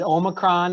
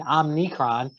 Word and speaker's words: omicron: this virus is it omicron is it omicron i think we had vouchers saying omnicron which it definitely isn't that but so we don't